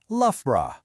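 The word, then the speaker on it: Loughborough: It's lra. Again, just two syllables from that whole jumble of letters.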